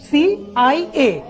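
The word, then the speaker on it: CIA: সিআইএ কে কি আমি সিয়া বলছি না, বলছি কি সিআইএ।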